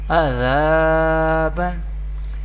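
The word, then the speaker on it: عَذَابًا: and there is do zabar tanween, and we pronounce alif madda letters with by stretching up to one alif or two harakat. Azaban, mim zabar ma, ta alif zabar ta, mata, ain do zabar an, mata'an.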